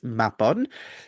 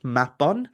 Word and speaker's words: Mabon: So it's like Mab on.